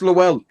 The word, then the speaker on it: Lowell: offend nobody yeah it's lowell lowell low street ellen v frisco there's a lot of people that pronounce it lol street there's a lot of people well it's lowell though um they're guys are